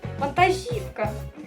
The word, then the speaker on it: вантажівка: приклад в нас буде вантажівка нагло ставиться на літеру і ми з вами не